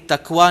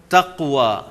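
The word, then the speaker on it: تقوى: अ अमर ब तकवा काफ को आप अंडरलाइन करेंगे तकवा नहीं होता तकवा तकवा अ अमर ब तकवा या वह तकवा की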